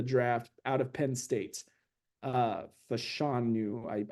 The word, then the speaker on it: Fashanu: Fashanu, I believe is how you pronounce his last name.